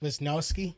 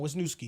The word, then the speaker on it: Wisniewski: Wisnowski? Yeah, with my interior line, baby. Oh, you said with my? Wisniewski. Wisniewski. Yeah, you can do that back. Pronounce the name right. Come on, Wisniewski.